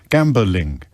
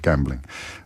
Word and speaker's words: gambling: I like to insert an extra syllable into gambling, like England, gambling. But I accept, technically, there is only 2 syllables in the word gambling.